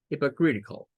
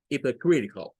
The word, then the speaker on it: hypocritical: Pueden ver que esta palabra tiene solo short E y tiene solo schwas.